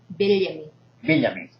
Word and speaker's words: Villame: Villame. Yes. That's the correct pronunciation.